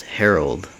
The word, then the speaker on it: Harold: wide about what Lindsay had just said it's Herald he said as he glared at her why do you always get my name wrong Lindsay asked Harold he kissed Gwen dude